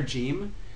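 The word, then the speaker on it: جيم: these places, and then it would be like a G sound in Egypt.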